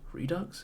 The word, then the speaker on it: Redux: Redux? Is that how you pronounce that word? Yeah, it's Redux.